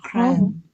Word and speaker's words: crumb: And it's called a crumb. A crumb? Crumb, yes. It ends with a B, but we said, you remember, whenever a B comes to M, comes after M, letter M, the B is silent.